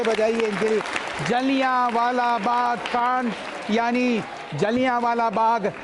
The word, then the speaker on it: जलियांवाला: जलियांवाला बाग। जलियांवाला बाग। जलियांवाला, तो इसलिए उच्चारण बिल्कुल सही होना चाहिए, पूछ लेना चाहिए, इंग्लिश में पढ़ें तो, क्योंकि स्पेलिंग का थोड़ा फर्क पड़ जाता है।